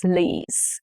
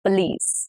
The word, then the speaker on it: police: The stress is on the last syllable, which is police. Police.